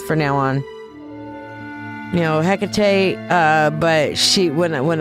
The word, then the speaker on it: Hecate: Also, I found interesting that she said her name is Hakate cuz I always kind of struggle with which pronunciation I'm going to go and she said Hkate, so I'm going to go with that.